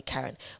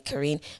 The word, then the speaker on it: Karine: how I grew up everyone called me Karen but my name is actually pronounced Korean so in the UK everyone calls me Karine but either or is absolutely fine I'm a social media